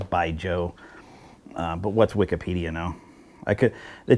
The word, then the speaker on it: Baijiu: I was calling it Baijiu at first because I thought it was cool to say it that way, but then I Wikipedia'd it, and apparently the correct pronunciation is Baijiu.